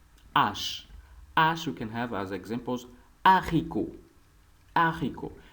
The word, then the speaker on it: haricot: And remember, mostly H in French is a silent vowel or silent letter. When it starts, it's become a silent letter. That's why we pronounce haricot, which means beans.